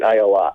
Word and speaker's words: Ayala: And I said I think it's Ayala. Did I get it right? Or you? It's actually the Hebrew version, and you've got it exactly right, Ayala.